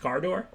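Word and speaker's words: Kardur: so so then was i right cinquenon is it just pronounced car door like i said like everybody argued with me but we all know it's pronounced car door okay so what am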